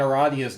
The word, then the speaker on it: Aradia: And it's pronounced Aradia, apparently. Okay. Which is probably the first time I've ever found out that I've been pronouncing something correctly.